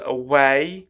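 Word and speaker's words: Aweigh: for example I'll be using an app called away away so it's spelled aw e i g h and that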